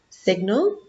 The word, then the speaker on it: signal: Okay, sign, signal, signature. Sign with I and silent G. Signal with E and I say the G.